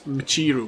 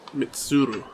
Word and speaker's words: Michiru: It's Michiru, not Mitsuru.